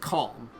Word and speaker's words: Colm: It's it's pronounced Calm, but it's spelled that way.